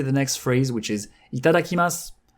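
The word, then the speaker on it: いただきます: This brings me to the next phrase, which is itadakimasu. Itadakimasu.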